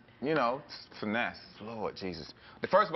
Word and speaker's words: Finesse: like you know cuz nobody even thinks it's finesse it's spelled finesse it is finesse I get fasy I get finess I get Fitness well you know when